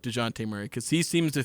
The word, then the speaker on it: Dejounte: I've been calling him DeJounte Murray. Silent J. It's DeJounte Murray. DeJounte.